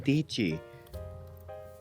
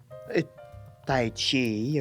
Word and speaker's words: Tichi: What's hard about saying Tichi? Like, do they pronounce just like, Tai Chi or Tichi, Tichai, Tacha? No, it's not.